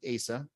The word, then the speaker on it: AASA: a couple weeks ago, they do pronounce it ASA.